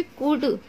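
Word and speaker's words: could: हो गया, कभी भी कुड, कुड कहीं पर भी लिखा होगा ना इस तरीके से, तो एल को हमेशा साइलेंट रखा जाता है, तो ये हमारा कुड होगा, इसे कुल्ड नहीं पढ़ेंगे।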